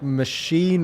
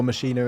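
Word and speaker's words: Maschine: you'd have like um their like machine or machiner as it's meant to be pronounced uh and they're like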